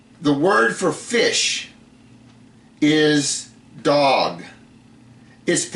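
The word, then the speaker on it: דג: You notice the the word for fish is dog. is it's spelled dolllet gimo. Okay, but it's pronounced dog.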